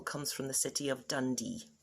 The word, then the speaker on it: Dundee: from the city of dundee or as dandonians would pronounce it dundee using both of their two vowels thank you very much